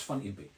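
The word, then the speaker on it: Van Impe: imp oh I pronounce it incorrectly how you pronounce it van imp it's fun imp okay Jack f Ministries he was swollen in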